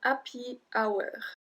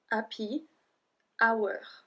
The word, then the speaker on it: happy hour: Happy hour. And that's how we pronounce it in French. Happy, because we don't say the H. Happy hour.